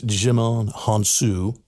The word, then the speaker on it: Djimon Hounsou: I want to pronounce his name right. It's Djimon Hounsou.